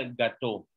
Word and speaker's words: gâteau: Ah, es que el sonido se parece a la palabra gato del español, pero pastel en francés se escribe así como lo miran ustedes y se pronuncia gâteau.